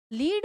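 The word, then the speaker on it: lead: लीड में जब आता है तो ये तो होता है गाइड करना, गाइडेंस करना, और ये लेड होता है, इसको प्रोनाउंस किया जाता है लेड, जो एक तरह का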